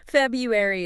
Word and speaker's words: February: Yeah, we want to make it 2 syllables Yeah. instead of 3. February is easier.